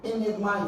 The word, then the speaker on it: enigma: day you discover that the option that has a stress or the different syllable is Enigma Enigma while all other words have their stress on the first syllable Enigma is having it stress on SE therefore the correct answer